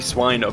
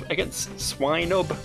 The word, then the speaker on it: Swinub: Probably Swinub, isn't it? Like swine.